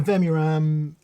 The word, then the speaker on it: Vemuram: And the Vemuram.